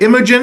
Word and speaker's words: Imogen: Imogen, is that how you say it?